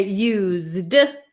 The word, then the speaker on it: used: we're going to say used it's going to have a z z sound so like